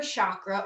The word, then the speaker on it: chakra: The 7 major chakras are these energy centers that run down the midline of the body. And the word chakra or chakra, you may hear it pronounced, means wheel of light or wheel of energy.